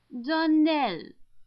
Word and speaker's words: Donnell: would set it right Darnell Accent on the last syllable and Saint Claire our